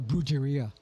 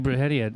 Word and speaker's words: Brujeria: Then when Jerry had once told me about Bruhia, how long at least you can say it right. Most people are bruia.